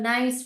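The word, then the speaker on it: knee: भी बोल सकते हैं नी भी बोल सकते मगर के साइलेंट है व के एन वर्ड हम पढ़ेंगे यहां पर केन का साइलेंट होता है नील के साइलेंट है इ के साइलेंट है नी ओके ना वी कैन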